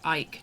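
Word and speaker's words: Eyck: ] care honor than Ike Ike not e I've been saying it wrong okay so Egghead is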